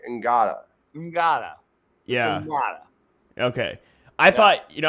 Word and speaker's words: Ngata: Yeah, I mean, I thought is it Ngata or Nada? I don't know if you pronounce the G, but I thought it was Nada, but they were saying Ngata.